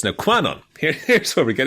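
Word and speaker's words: Kwannon: also doing a very good job not saying Qanon every time you say Quanon just to let you know about it's actually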